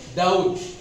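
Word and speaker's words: doubt: वड in this way डाउट here B is silent and this is वेरीेंट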